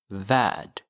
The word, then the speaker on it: värld: So notice here that värld, even though it has an L, it's silent. Värld. In English, it's world, world. But the L in Swedish is not pronounced, so you say värld, en värld.